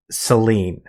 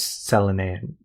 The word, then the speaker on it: Selene: But the connection between Tifa and Selene, or Selene, is actually how it was pronounced.